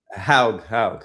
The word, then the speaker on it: Haug: Did I pronounce it right? Hogue? Haug.